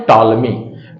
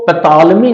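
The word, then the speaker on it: Ptolemy: टॉलमी को मैंने English में भी लिखा है, क्योंकि पी पहले जुड़ा होता है और पी इसका साइलेंट होता है। ट से उच्चारण करते हैं। इसको पैतालमी नहीं कहेंगे, कहीं कहीं लिखा भी है, बट इसे पी को साइलेंट कर लीजिए और उसके टालमी।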